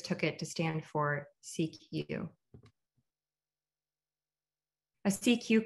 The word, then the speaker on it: CQ: as a cq call when pronounced in french the official language for international telecommunications cq sounds like the first two syllables of security used to mean pay